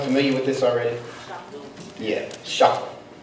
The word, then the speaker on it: chakra: Yeah, chakra. Correctly pronounced shukra, like we say shukran. Yeah, it's spelled chakra, but it's pronounced shukra.